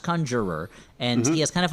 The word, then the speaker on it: Conjurer: And for help she's going to go to one Simon Conjurer who's kind of a long haired guy who it's pronounced Conjurer and he has kind of a New York accent.